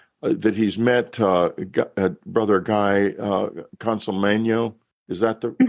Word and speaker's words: Consolmagno: He mentions, by the way, this viewer, that he's met Brother Guy Consolmagno. Is that the mm-hmm. correct pronunciation?